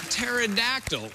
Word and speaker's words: pterodactyl: It was pterodactyl, which surprisingly is spelled with a P at the beginning.